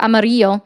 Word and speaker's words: Amarillo: I have another friend in Amarillo or Amarillo. That's how it's supposed to be pronounced.